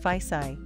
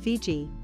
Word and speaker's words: Fiji: and much in demand they called their home Didi but the tongdens called it faisai and it was by this foreign pronunciation Fiji first promulgated by Captain James Cook that these islands are now known since VG expands 1